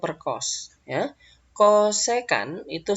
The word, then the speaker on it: kosekan: Kemudian ini kosekan ya. Jangan co ya, kosekan.